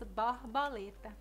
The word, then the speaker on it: borboleta: A palavra borboleta, como é pronunciado no sul, no nordeste nós pronunciamos borboleta. Borboleta. A letra O é aberta e a letra R é aspirada.